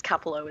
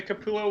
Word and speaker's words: Capullo: Comics Will Break Your Heart says, I think I mispronounced his name. It's Capullo, isn't it?